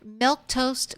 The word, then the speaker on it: Milquetoast: Now, just a reminder, Milk Toast is how you say my name, in case you're wondering.